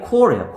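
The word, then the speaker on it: corps: 이 발음이 core예요. core. S가 발음이 나지 않아요.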